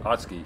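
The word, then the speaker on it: 大月: So I just walked around the blocks a little bit of Otsuki Station, pronounced Otsuki in Japanese.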